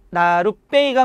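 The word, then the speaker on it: 나룻배: 여기서 사이 시옷은 발음 한번 해봅시다. 나루배예요, 나루배예요. 나루배가 맞아요, 나루배가 맞아요.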